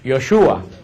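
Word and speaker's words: ישוע: El nombre de Jesús, que nosotros decimos Jesús, en hebreo no se pronuncia Jesús, en hebreo se pronuncia Yoshua.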